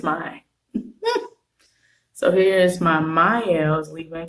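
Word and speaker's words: Mielle: for first and foremost I was always saying this name wrong it's not me you it's mine so here's my miles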